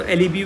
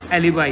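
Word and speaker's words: alibi: कई इसको एलिबी बोलते हैं, अली भाई भी बोलते हैं कई लोग, बट यू can call it anything, it इज एलिबाई, बट इट is called as एलिबाई। This is the pronunciation, एलिबाई।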